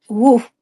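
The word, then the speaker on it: Łódź: of 194 2 and woof which is um it's spelled l o DZ but um in Polish you say woof I don't know and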